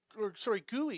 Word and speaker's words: Guay: Gui is how you pronounce the last name.